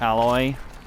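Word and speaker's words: Aloy: to the first room won it yeah it's pronounced alloy where the i'm gonna climb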